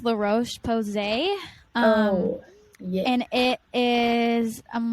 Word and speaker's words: La Roche-Posay: It's by the brand, I think it's pronounced La Roche-Posay.